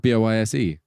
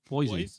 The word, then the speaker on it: Boise: How's it But it's spelled? spelled B-O-I-S-E. Boise.